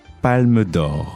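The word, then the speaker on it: Palme d'Or: And so at the end, the winner gets the Palmodor golden palm. The Golden Palm. Yeah. Mhm. And that's what the big award of the whole festival. That's it. How do you say it again? Palmodor.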